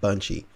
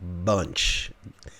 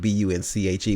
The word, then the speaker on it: Bunche: The first one was Ralph Bunche, or actually, I'm sorry, Ralph Bunche. His name is spelled B-U-N-C-H-E, but it's actually Ralph Bunche.